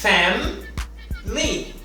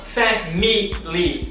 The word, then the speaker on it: family: Significa que essa letra não é pronunciada. Se essa letra não é pronunciada, então temos apenas family e não family, como algumas pessoas tendem a pronunciar.